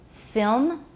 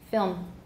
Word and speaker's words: film: And film, do we have an extra syllable with the M? Film. How many syllables? One. However, some people say film. It's not standard, but you will hear it, film.